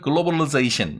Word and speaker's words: globalization: 미국식 발음으로 읽으면 globalization 이렇게 해서 I 발음을 좀 약화시켜서 발음을 하면 globalization 이렇게 얘기하면 미국식 발음으로 된다고 하죠.